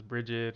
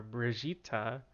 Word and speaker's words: Brigitte: It's spelled Brigitte, but and everyone always assumed it was Bridget or Brigitte or something, but the way it was pronounced in the videos are Brigitta.